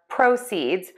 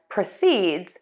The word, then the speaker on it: proceeds: Heteronyms are words that are spelled the same, but they have different meanings and different pronunciations. Our words today are proʻsidz, which is money obtained from an activity, and prəˈsidz, which is to begin or continue a course of action.